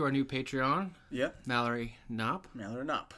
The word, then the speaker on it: Knopp: I'm pretty sure it's pronounced Knopp. Part of me wants to say it's Knopp. Knop. Two P's. It's two P's, right? It's a K-N-O-P. But the K silent, like Okay. in knife.